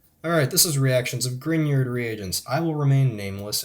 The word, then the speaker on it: Grignard: By the way, it is pronounced Grignard, not Grignard, not Grignard, whatever you think. It's Grignard.